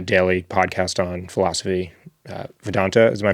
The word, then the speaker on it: Vedanta: Uh Vedanta, am I pronouncing it correctly? Vedantic is the podcast on the the ancient philosophy of uh Advaita Vedanta, that's right.